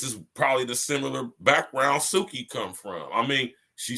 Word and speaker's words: Suki: What does Suki rhyme with? Soupy? Soupy? Soupy? Yeah. Coochie. Oh. Suki Coochie? Suki Coochie. Say it with me. Suki Coochie. Suki Coochie. Suki rhymes with Coochie.